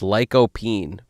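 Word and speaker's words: lycopene: Sounds like bean. It sounds like stream but with an N at the end instead of a an M. Is that what we're talking about? Sounds like that but rhymes with Talk to me. Leo penet is pasta shaped like wolves. Nice. I think we've established it's it's lycopine.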